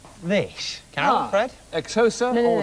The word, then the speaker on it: Xhosa: Xhosa.